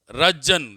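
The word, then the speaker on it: Röntgen: सुनना ध्यान से, रज्जन लिखेंगे क्या? रज्जन पढ़ेंगे, स्पेलिंग लिख लो रज्जन की, RONTGEN, RONTGEN, रज्जन।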